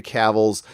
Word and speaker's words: Cavill: Cavill. I say Okay. Cavill.